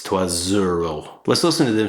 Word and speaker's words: trois euros: But in French it's called liaison, which is where two words connect depending on what the outgoing and incoming vowels or consonants are. So trois euros is pronounced trois zero, so it's trois zero.